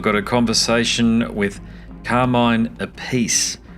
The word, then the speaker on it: Appice: conversation with Carmine Appice, and I believe that's how you pronounce his surname. I'm sure somebody will jump on it and tell me that it's not, but I think all three prominent members of the Appice clan pronounce their surname differently.